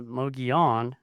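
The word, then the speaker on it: Mogollon: Uh but it is um it is spelled M O G O L L L O N. But because it's a Spanish name, the two L's make a Y sound. Uh Moion, but there's no I in it.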